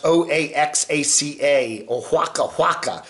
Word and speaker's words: Oaxaca: got to get his permission first trying to pronounce o-a-x-a-c-a mjc427 that's the state of mexico right it's